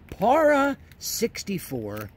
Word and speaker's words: Para 64: am gonna show you para 64. that's how you pronounce these para 64.